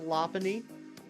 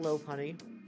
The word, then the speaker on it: Lopunny: It is pronounced Lopunny. It's pronounced Lopunny, not Lopunny. My bad.